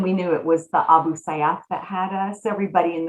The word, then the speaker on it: Abu Sayyaf: So you kind of explained there already who I can't even say it correctly, Abba The Abu Sayyaf. Sayyaf, yeah.